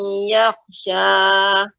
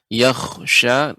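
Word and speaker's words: يَخْشَى: Tadi sedikit koreksinya, perhatikan pada kata yakhsha, kha dibaca dengan tebal ya.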